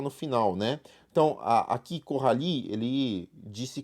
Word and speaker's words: Coralie: Sílaba tônica tá no final, né? Então, aqui, Coralie, ele disse corrar, né?